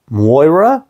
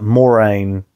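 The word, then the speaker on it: Moiraine: Like, kind of, he was adding a W in there, like Moira almost. And that's not how anyone else pronounces it. Like, not in the show. And I think Kate Redding actually does pronounce it quite similarly, like Moraine. But Moraine is so much more, I don't know.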